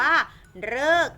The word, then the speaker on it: ฤกษ์: ต่อ ไป ค่ะ อ่ะ มี ตัว รึ ที่ อ่าน ออก เป็น เสียง เรอ มี ใช้ อยู่ คำ เดียว เลย นะ คะ นั้น ก็ คือ คำ ว่า ฤกษ์ นั่น เอง ค่ะ เขียน แบบ นี้ นะ